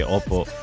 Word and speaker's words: opo: Especially when you speak to an elder, say Oppo. But it's not spelled the same. It's like OPO or like Tagalog.